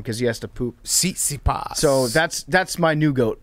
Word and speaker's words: Tsitsipas: Jake, how do you pronounce that guy's name? Tsitsipas? Tsitsipas.